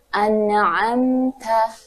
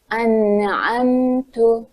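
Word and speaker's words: أنعمتَ: atau harakat yaitu misalnya anamta dibaca dengan anamtu maka akan bereda artinya kalau anamta telah engkau beri nikmat ketika anamtu telah aku beri nikmat kemudian berikutnya yaitu yang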